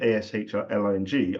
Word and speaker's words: Aisling: So you spell it Aisling. That's the best way of spelling Ashley. That's my joke. Okay, so I didn't say it fluently because I'm getting used to the spelling and the pronunciation of Ashling.